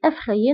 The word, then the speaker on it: effrayée: وبالنسبة للمؤنث je suis effrayée نفس النطق، فقط كنضيفو أو في الكتابة، أو في آخر الكلمة كنضيفوها في الكتابة.